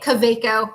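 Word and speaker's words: Kaweco: Caveco.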